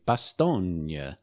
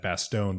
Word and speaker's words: Bastogne: the audiobook version and they don't say bastogne in the audiobook they say bastogne which i think might be the correct way of pronouncing it in like belgian but like i don't